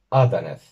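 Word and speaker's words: adaneth: Aquí tenemos la primera palabra esdrújula de este vocabulario. Y vamos a tener que observar un poquito dónde colocar la tónica. En primer lugar, observamos que en la penúltima sílaba, da, no tenemos una vocal larga ni tampoco un diptongo y además no le siguen dos consonantes, de modo que la tónica va a ser la primera.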